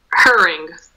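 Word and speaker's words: Hering: really see so again you cut the h out right we look e-r-i-n-g yes and we pronounce the letter g in the end so adding adding adding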